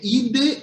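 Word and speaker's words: عيد: Mas é assim, o Id, a pronúncia em árabe é o Id.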